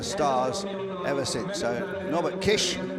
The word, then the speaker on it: Kiss: ever since so no Kish it's spelled k i s kiss but it's pronounced Kish so that truck turns